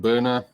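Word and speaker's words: Byrna: And one of my products, you can see, it's a company called Burner. It's spelled B-Y-R-N-A.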